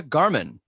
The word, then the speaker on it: Gahrmann: the women in tech seo she is miranda garman how are you good how are you i'm good did i pronounce your last name right yes okay good